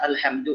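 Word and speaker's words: الحمد: Jangan bacanya alhamdu. Al. Nah, kayak kemarin yang talaki Al-Fatihah ya. Walaupun saya juga sampaikan hari Kamis tuh. Ketika baca alhamdu jangan jadi tebel.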